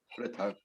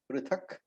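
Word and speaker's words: पृथक्: Two different words, Shankhan, Dadmu, the Visarga of course, but Dadmu, Prithak, Prithak. So the correct pronunciation is Prithak, Prithak, because there is a halant over there. But when we chant, we make it Prithak, Prithak for convenience's sake.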